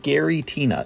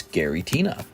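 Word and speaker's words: Giratina: they bring back the yellow borders it's definitely pronounced Gary Tina it's Gary Tina here's spey tomb oo so fun opening these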